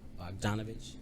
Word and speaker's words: Bogdanovich: Bogdanovich.